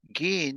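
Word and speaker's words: giin: Gin is you, G-I-I-N.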